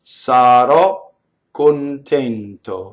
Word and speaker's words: sarò contento: So the O causes the K sound to double, right? So now how do I make that doubling? How do I make that doubling? I wrote it a certain way, but do I really say two Ks, right? Do I say sarò contento? No, right? I stop phonation.